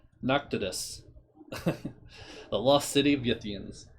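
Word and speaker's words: Pnakotus: know i did p-n-a-k-o-t-u-s i think the p is silent noctis noctitus the lost city of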